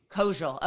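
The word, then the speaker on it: Koziol: Kojal.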